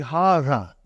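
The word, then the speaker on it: هذا: See, it is pronounced like Hatha. But this alif is not written.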